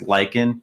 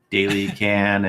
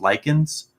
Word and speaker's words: Lycan: changed it to just lichen because people were pronouncing my name wrong like daily kin and different stuff like that so basically like in